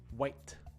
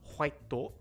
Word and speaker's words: white: That one is white, white. Not white-to, right? Not to, but white, white.